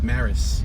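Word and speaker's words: Marais: the rice m-a-r-a-i-s now unless it's maris and the a is silent wow that's a flexure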